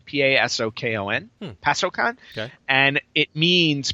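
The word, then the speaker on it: パソコン: the name gamecom gamecom in Japanese is actually pronounced pasokon p a s o KO n pasokon okay and it means personal computer oh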